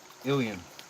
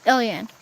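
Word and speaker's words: Ilyan: It's spelled I-L-Y-A-N. Ilian. Ilian.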